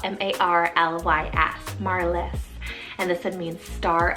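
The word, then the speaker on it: Marlys: the 20s 30s and 40s then we have marliss spell m-a-r-l-y-s marliss and this one means star of the sea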